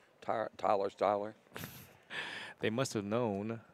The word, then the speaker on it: Styer: You think when they named Tyler, they did that because it rhymes with Styer? Tyler Styer?